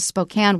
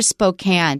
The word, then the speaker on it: Spokane: Watch out for Spokane, because it looks like Spokane, and I bet a lot of people say it that way.